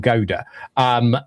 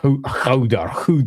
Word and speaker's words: Gouda: In UK, it's pronounced Edam Gouda. Both Edam cheese is just Edam, and Gouda is just Gouda rather than Gouda, or Houder, however you pronounce it.